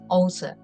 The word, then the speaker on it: Åsa: she is um in Sweden her name is OA do I pronounce it correctly yes it's all right yeah